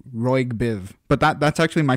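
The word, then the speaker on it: ROYGBIV: too too funny absolutely I I pronounce it Roy Biv but that that's actually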